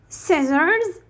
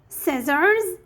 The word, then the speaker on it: scissors: here silent c as scissors scissors muscle crescent and indiment so the c here is silent so when the e